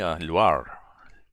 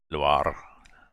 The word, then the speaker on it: Loire: Loire. Loire. With a little bit of roll in the R.